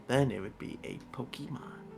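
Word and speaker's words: Pokémon: Yeah, it's like it's like every single person that plays Pokemon always pronounces it as Pokemon and it gets me mad every single time because it's Pokemon. There's no Y in the name. It's not P O K E Y.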